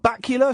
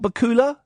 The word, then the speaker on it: Bakula: Scott Bula. Scott Bakula.